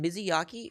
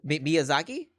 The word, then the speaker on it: Miyazaki: so crazy wait hold on did uh did mizzy yaki oh sorry i don't know how to pronounce this miyazaki yeah oh okay did he make sakiro yeah